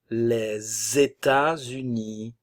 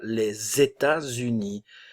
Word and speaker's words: les États-Unis: les États-Unis attention liaison les États-Unis le T se prononce pas le S fait la liaison ici le S ne se prononce pas les États-Unis c'est comme si on